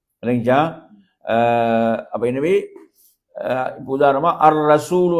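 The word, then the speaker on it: الرسول: அப்ப எனவே இப்ப உதாரணமா அர்ரசூல் என்று வந்தால் அல் ரசூல் என்று உச்சரிக்க இயலாது எப்படி உச்சரிக்க இயலாது அல் ரசூல் என்றது எப்படி உச்சரிக்க கூடாது அல் அல் ரசூல் என்று உச்சரிக்க இயலாது சொல்றது எனவே அங்க வந்து அந்த லாம் என்பது சைலெண்ட் தான் இப்படியாக இந்த பாடம் இப்ப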